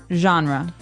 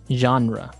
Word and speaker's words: genre: We say genre. Genre word genre. This kind of sounds French.